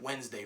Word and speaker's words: Wednesday: word sound it out tell me you get Wednesday from that you know how long it took